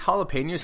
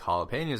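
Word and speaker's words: jalapeño: So, I guess jalapenos are not a normal thing in Australia.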